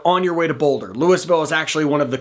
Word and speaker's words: Louisville: And yes, before I go any further, in Colorado, we pronounce it Louisville. We still say Louisville for Kentucky, but the town here we call Louisville.